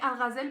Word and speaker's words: Algazel: primero es éste pone algas de él porque en castellano en castellano se dice gacel pero para mí es muy raro decirlo así siempre y le llamo a